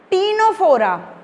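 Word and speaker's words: Ctenophora: अब देखो टीनोफोरा, सी साइलेंट है, तो टीनोफोरा में भी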